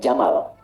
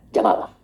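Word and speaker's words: جمل: Jika dia pakai jenis gender, dia jantan, maka namanya jamal. Saya notis ya, pendek bacanya. Jamal bukan Jamal.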